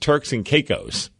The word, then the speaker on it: Turks and Caicos: that's what I'm saying oh and it's apparently pronounced Turks and Caicos oh Turks and Caicos that's right I know that place now that